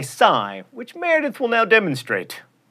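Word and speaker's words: Psy: and speaking of memes it's Gangnum Style by Sai which Meredith will now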